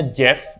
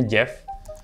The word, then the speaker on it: Geoff: Yang satu namanya Jeff, nulisnya Geoff, tapi kan bacanya Jeff.